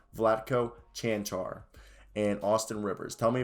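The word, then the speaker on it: Vlatko Čančar: i said that correctly flat coach chanchar kanshar somebody also told me how to say that correctly vladko chantar and austin rivers tell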